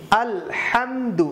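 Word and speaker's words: الحمد: ওকে, আলহামদু, এখানেও হাটা শক্ত করে, আলহামদু। আবার বলুন আলহামদু, আলহামদু বলা যাবে না, আলহামদু লিল্লাহি, লিল্লাহি বলা যাবে না, এখানে লামের আগে জের আছে, এই জন্য আমরা লিল্লাহি পড়ব।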